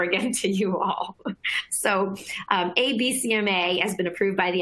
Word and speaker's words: Abecma: They call it ABCMA. It's spelled ABECMA, just so you know exactly what it is that they're doing.